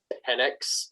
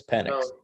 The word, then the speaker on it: Penix: By the way, it's pronounced Penix. By the way, Dylan, you Penix every year. Penix every day, every year, every game. I said Penix once. It's Penix.